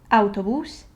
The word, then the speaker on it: autobús: And I just like to point out that it has an accent right here above the U. So it is a written accent, and it also should be pronounced as a stressed syllable.